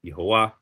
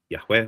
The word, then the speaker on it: Yahweh: with 99.9% assurity that the pronunciation is not Yhovah and that it is Yahweh or very something very close to Yahweh.